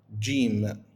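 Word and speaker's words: جيم: it will be J Will pronounce it as G gim gim and it's provide or pronounced like g g okay same also for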